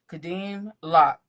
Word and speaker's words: Kadeem Locke: Kadeim Lock. That's how you pronounce it. Lock. Yes, ma'am. All right. Kadim Lock is a Jamaican American author born and raised in Jacksonville, Florida.